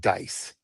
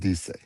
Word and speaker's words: dice: And but in that you, in the formal tense of you, it's spelled dice, like dice, Mm-hmm. but it's pronounced dice.